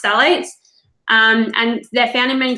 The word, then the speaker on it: phthalates: So one of the most common ingredients that comes up that's a real problem is something called phthalates, Phthalates, pronounced phthalates.